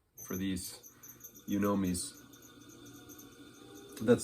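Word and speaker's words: yunomi: of the shape that i like for these you know me's that's spelled y-u-n-o-m-i not three words you know me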